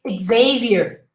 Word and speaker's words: Xavier: But then a proper name would be, this name we say Xavier, Xavier. You pronounce a G and a Z.